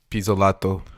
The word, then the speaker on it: Pizzolatto: Rick Bayer, Elizabeth Sales, True Detective creator Nick Pizzolatto. How do you say this name, Anthony? You're Italian. Pizzolato.